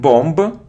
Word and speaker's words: bomb: a minute minute good it isn't bomba not bomba not bomba it's Bom Bom it's a sound or bomb so without it without it you don't pronounce B so next word it